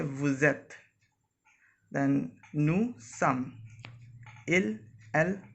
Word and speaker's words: vous êtes: We do a little liaison between s and e.